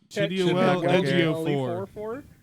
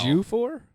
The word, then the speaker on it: Ejiofor: Chidwell Chidwell Ejiofor. It was Chidwell Ejiofor. There you go. Wow. Ejiofor?